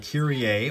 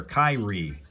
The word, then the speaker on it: Kyrie: Now, you can pronounce it a couple of different ways. You can do it like the old song Mr. Mister did called Kirier, or you can be the first name of a basketball player, Kyrie.